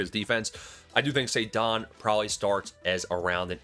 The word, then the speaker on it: Ceddanne: Ceddanne, say it with me.